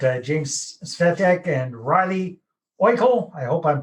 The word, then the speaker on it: Oikle: me we've got uh james svetek and riley oikel i hope i'm pronouncing your name properly riley is that all